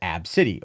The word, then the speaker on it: Abcde: fun at her daughter's name ABC de pronounced AB City or AB City of AB City as they boarded a